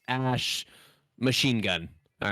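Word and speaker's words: Æ: the AE that are like glued together, is pronounced ash.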